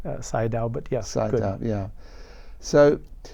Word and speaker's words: Sayadaw: the Venable Park out say adores that right say down but yes I yeah